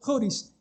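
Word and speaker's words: χωρίς: Por eso dice aparte de la ley, esa es una palabra griega que se pronuncia joris, que significa aparte.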